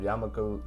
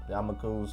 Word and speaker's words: Yamaku: third or fourth of yamaku Y oh I said it right the first time yamak yam yamaku librar is either in